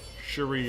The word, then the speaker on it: Cherie: Cherie is the right pronunciation. Like, what Gambit calls everyone.